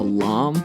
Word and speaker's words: lame: We're going to be using something called a lame. That's a French word for blade. It's spelled L-A-M-E, like lame.